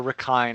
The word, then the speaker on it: Rakhine: there the I mentioned the racking basin or rekon I think is how it's said in Myanmar which is the nation